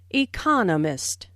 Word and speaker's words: economist: smith is an economist notice the stress on economist this content word has new information so it is emphasized there are four syllables in economist with the stress on the second syllable economist he just finished writing just